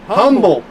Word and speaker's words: Humboldt: It's called Humboldt Park. Humble. Okay. H-U-M-B. Oh, H-U-M-B. H-U-M-B. There's a lot of silent letters in there.